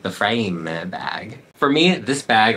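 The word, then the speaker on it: Frayme: by Stella McCartney and it is called the framing bag it's spelled like frame but then they added a y so I'm like the frame bag for me this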